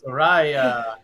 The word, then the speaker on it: Saraya: Saraya.